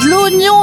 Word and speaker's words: oignon: L'oignon les copains. L'oignon. O n i o n en prononciation.